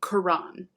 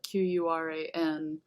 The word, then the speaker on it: Quran: Um, so that's because in Arabic, as in Hebrew and other Semitic languages, there's kind of a glottal stop in between the two syllables. But basically, to spell it Quran, even without the apostrophe, is perfectly correct.